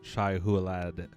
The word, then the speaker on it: Shai Hulud: One, you're mispronouncing Shai Hulud. Shai Hulud. Hulud, that's how you say it.